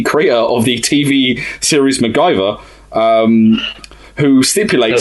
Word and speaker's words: MacGyver: who was the creator of the TV series MacGyver, who stipulated...